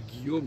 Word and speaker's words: Guillaume: Et nous on dit Guillaume, donc on ne prononce pas le U.